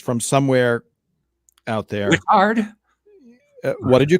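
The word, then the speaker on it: Whittard: Wittard? What did you call me? Wittard. Yes, it is Wittard.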